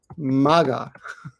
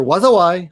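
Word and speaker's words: 禍: This is either pronounced wazawai, and means disaster, or it's pronounced ka or maga. All of those are that kanji can be pronounced either wazawai or ka or maga, and it means disaster.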